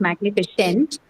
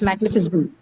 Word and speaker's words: magnificent: It's not A, it's not magnificent, it's magnificent. Okay, so 4, you're right, 4 vowel sounds, and they are A, E, again an E, and then the schwa sound.